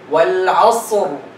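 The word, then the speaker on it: والعصر: You don't hear the ra. Because they did not learn this and they did not pay attention. Wal asr. See, wal asr.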